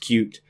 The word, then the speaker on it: Qt: First of all, Qt, Qt, the Qt toolkit, is pronounced like the word cute. That is how the creators intended it to be pronounced, cute.